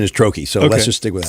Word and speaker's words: troches: There's, I think they're called, I don't know if I'm pronouncing it right, trouches. Am I pronouncing that right? Or pouches? They're like, I call them troches or troches.